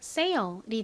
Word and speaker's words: sale: 반면에 S의 뒤에 이 단어와 같이 모음이 오면요. 강하게 된 소리처럼 발음이 납니다. 그래서 sale이 아니라 sale, sale 이렇게 발음을 해주시면 됩니다.